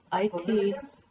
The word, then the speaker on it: Leviticus: How do you pronounce this? I don't know which one. Levit. Leviticus?